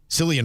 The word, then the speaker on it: Cillian: Cillian Murphy, or Killian Murphy, however you want to pronounce it, he is back as Tommy Shelby.